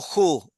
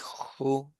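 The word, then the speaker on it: הוא: Él, en hebreo, se dice, como está acá, o ju, depende de la pronunciación, si es sefaradí o si es akenazi. Normalmente es ju, suavecito, ujú.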